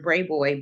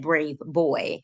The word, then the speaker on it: Brayboy: But you know, my stepdad called Mr. Brayboy Brayboy. He never said brave boy. So when you guys always hear me saying Brayboy, Brayboy, Brayboy, it's just how my dad pronounced Aisha's name.